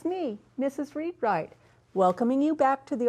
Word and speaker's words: Readwright: Read-Wright?